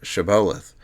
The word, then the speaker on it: shibboleth: demanded the Palestinian Yahwist pronounce the password Shibboleth, knowing that it contained a type of SH sound they could not pronounce.